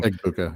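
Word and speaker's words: Egbuka: I I think it's it's going to be, you know, Ibuka, Ibuka, Ibuka, what how you pronounce his name. Ibuka. Yep.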